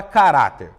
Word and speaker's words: caráter: Caráter! Opa! A penúltima sílaba foi a sílaba que durou mais. Então, nós falamos que essa palavra ela é uma palavra paroxítona.